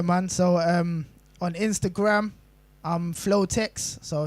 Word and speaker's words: Flowtec: No, it's flow, in it, like the flow, and it's text like a brah, or technical, or technician, whatever.